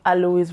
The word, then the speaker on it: Alois: Alois, because I checked the pronunciation Alois, so it's a French name.